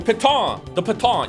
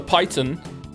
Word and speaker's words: piton: That mouse made fun of me for not pronouncing properly because it's a French word. The piton. You can have more pitons. Or as I said, the python.